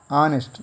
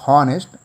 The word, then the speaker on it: honest: In the same way, the next word is H-O-N-E-S-T, honest, not honest, honest.